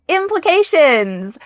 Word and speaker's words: implications: Next, let's try to tackle this beautiful word, implications. Let's break it down. Try to say it with me as I say it. Implications. Implications. There needs to be a short I in the middle here.